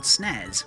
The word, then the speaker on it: Snaz: Ah, that's done by a brilliant little program called Snaz. Basically, it's spelled exactly how it sounds.